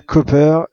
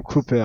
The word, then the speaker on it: Copper: Alors, en effet, on dit bien Copper et non Cooper.